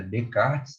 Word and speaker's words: Descartes: Pois é, o René Descartes, a pronúncia correta é Descartes, né, apesar desse S aí, porque ele era francês, né, o Descartes, né?